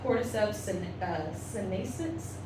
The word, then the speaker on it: Cordyceps sinensis: There's a lot of different kinds, but the 2 ones that I focused on today are cordyceps sinensis. Cordyceps sinensis, thank you, and then cordyceps militaris. I knew how to pronounce that second one.